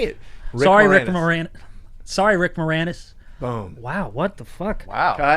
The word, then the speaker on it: Moranis: from the first time brent pronounced rick moranis as rick moore anus did i rick moranis there you go jesus i don't know